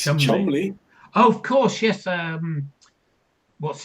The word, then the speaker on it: Cholmondeley: Foster went to Gloucester is a rhyme taught to children to tell them that Foster rhymes with Gloucester, even though Foster looks very different from Gloucester. It's Chumley.